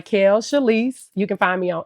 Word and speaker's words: Chalyce: awesome okay so everybody my name is Mel chalise you can find me on Instagram Facebook Snapchat all that good stuff so it's spelled m i k a e l and